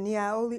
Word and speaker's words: Niaouli: Like I said, Niaoli oil, for all the recipes that you see